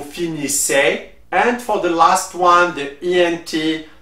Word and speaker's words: finissez: For vous, the easy is pronounced E, so you will say vous finissez.